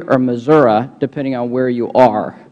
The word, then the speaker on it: Missouri: and now we'll recognize Mr Clay of uh Missouri or Missouri depending on where you are thank you Mr chairman and the correct pronunciation is Missouri expelled with an eye anyway let me uh